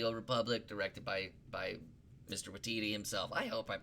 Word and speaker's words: Waititi: Waititi himself. I hope I'm pronouncing his.